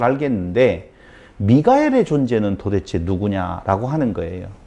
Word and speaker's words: 미가엘: 왜냐하면 옛뱀이라고도 하고 마귀라고도 하고 사탄이라고도 하니까 잘 알겠는데, 미가엘의 존재는 도대체 누구냐라고 하는 거예요. 미가엘 아셔요? 미카엘이라고도 발음을 하고 그러는데요.